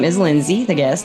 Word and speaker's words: Lynnsey: And am I pronouncing your name correctly, Lindsay? You are Lindsay. I spelled like Lindsay. It smelled very phonetic. Yes, it is very phonetic.